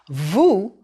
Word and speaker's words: vous: It's pronounced with the oo sound, oo as in goose.